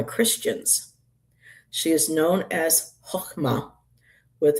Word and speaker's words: Chokhmah: She is known as Chokhmah, with the H being said like Ch in the name Bach in Hebrew. So before I was pronouncing it Chokhmah, but I guess it's more like Chokhmah in Hebrew, and Sapientia in Latin.